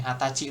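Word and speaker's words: 二十歳: Nah, tapi tetap nulisnya seperti ini. Hatachi pakai sainya sebenarnya. Say kanji sa tuh kanji umur. Nah, tetap ditulis tapi dibacanya Hai nih. Hatachi doang ngebacanya.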